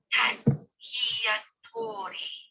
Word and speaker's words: cacciatore: How to make cacciatore. She pronounced it almost letter by letter. Cacciatore, Mrs. Quince corrected from her rocking chair.